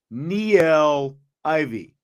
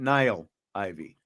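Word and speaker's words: Niele Ivey: from tommy guns can we get the actual pronunciation on her name he is speaking of Neil Ivy not Nile Ivy Niel Ivey you know who I'm talking about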